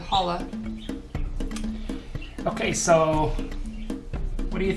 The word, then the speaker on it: challah: And actually, I think the bread is pronounced challah bread. The C is silent. It's a C. Oh, okay, challah bread. Yeah, C-H-A-L-L-A, challah.